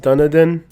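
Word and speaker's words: Dunedin: say lol i got you but yes it's pronounced dunadan it's crazy how far us youtubers have to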